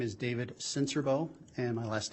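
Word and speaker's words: Sincerbeaux: spell your last name my name is David senserbo and my last name is spelled s-i-n-c-e-r-b-e-a-u-x sir how are you employed um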